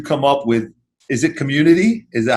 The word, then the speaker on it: Cxmmunity: So how did you come up with, is it Cxmmunity? Is that how you say it? Okay. Yeah, so how did you come up with Cxmmunity?